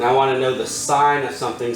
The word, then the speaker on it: sine: sentence is highlighted the sign of an angle pronounced sign and abbreviated SI n is the ratio of